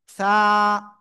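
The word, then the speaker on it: ث: জিব্বার আগা, এই দুই দাঁতের আগায় লাগান, লাগিয়ে হালকা বাতাস বের করতে হবে আর উচ্চারণ করতে হবে একালিপটা নিয়ে।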